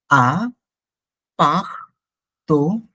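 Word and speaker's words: appartement: উই হ্যা একটা এপার্টমেন্টঅ্যাপার্টমেন্ট but French উচ্চারণ কিন্তু এপার্টমেন্ট না ফ্রেঞ্চ উচ্চ এপার্টমেন্ট না এটা হচ্ছে এ্যাপার্টমেন্ট মানে এ্যাপার্টমেন্ট কিন্তু ফ্রেঞ্চে বলব আ পা তোম আমি যদি ভেঙ্গে ফেলি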